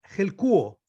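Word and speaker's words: ἑλκύω: Ahora, traer es una palabra griega, helkuo, se pronuncia.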